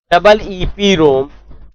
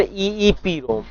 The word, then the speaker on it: EEPROM: pronounce डबल ईपी रोम और ईईपी रोम, एंड ईईपी रोम इज a special type of